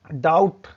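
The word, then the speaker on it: doubt: आप अक्सर बोलते हैं डेली डाउट डाउट, लेकिन उसकी जो स्पेलिंग होती है वो बी होती है। तो यहां पे आपने देखा कि एम के बाद अगर जो बी आता है तो वो साइलेंट होता है, और टी से पहले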